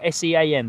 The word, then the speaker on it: Sean: My name is Sean, but it is spelt as Greg has said it. It is spelt S-E-A-N, the Irish way.